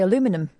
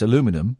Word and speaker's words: aluminum: Yeah, they also say aluminum. Well, they don't put the I in. They don't put the second I in. That's why it's aluminum.